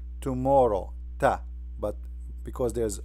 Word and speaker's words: ت: So this is how it's written and this is how it's pronounced. Ta. Ta.